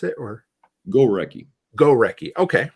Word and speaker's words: Gorecki: Is that how I pronounce it? Or Gorecki. Gorecki.